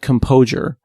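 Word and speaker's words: Compojure: like there's one called composure but again the J is pronounced like an S I think you know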